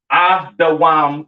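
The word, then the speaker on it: אדום: Pronounced Adawam in the Hebrew, all right? Edom Adawam.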